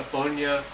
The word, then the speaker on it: Funai: If you get a separate Blu-ray player, like I said, get a Funya, and it's spelled, in case you want to know, it's spelled Funai. Funai.